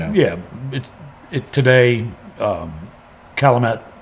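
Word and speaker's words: Chalmette: Um, Calamett, Louisiana. Shalomtt is how I've also heard it pronounced, depending on whether or not you're from there.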